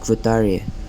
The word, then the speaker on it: Guattari: J delos and phel GUI whose name is pronounced quari for apparently no reason but I will not